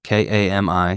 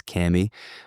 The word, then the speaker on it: Kami: call it is Camy k a m i some people still pronouncing it Kami pretty sure we've settled the proper way is Camy but if I'm wrong